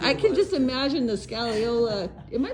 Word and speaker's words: scagliola: I can just imagine the scallola. Am I pronouncing that right?